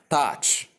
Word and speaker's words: touch: and the ch sound, which we pronounce as touch. Pronounce after me.